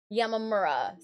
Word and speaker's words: Yamamura: It is Yamamura.